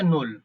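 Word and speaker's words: Null: দেখেন নূ এটা হচ্ছে নূল শূন্য জিরোটাকে বলা হয় নূ এন ও এল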